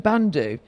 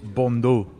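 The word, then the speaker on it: bandeau: and coined the langlen bando and off the court a look that defined the roaring twenties have you learned something today i have i'm gonna teach you something too i think it's pronounced bondo and i'm a keen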